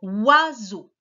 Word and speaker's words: oiseau: D'abord, le oie qu'on entend au début, c'est le chien qui aboie. Oie. C'est le O et le I pour faire le son oie. Ensuite, on va avoir un seul S pour faire le son Z, puisqu'il est entre deux voyelles, le I et le E. Donc, un seul S.